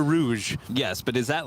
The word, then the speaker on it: Rouge: okay first of all I call that Rogue okay you know what I'm talking about yep what is that is that Canada Rouge yes but is that